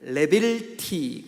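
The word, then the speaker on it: לבלתי: 이 없게 하옵소서, 이거를 레빌티, 그렇게 발음해요.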